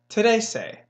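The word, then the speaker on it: trece: numbers we just learned is basically if you say today and then say like you're saying something so not yesterday but today and then you're saying something today say that is how you say the number 13 on Sado say today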